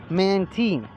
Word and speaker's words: Mantine: this thing is pronounced mantine it's a combination of manta and marine marine is a word